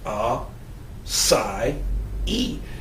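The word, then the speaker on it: açaí: like it says AA but it is actually pronounced a Sai e it's Portuguese and it literally means full of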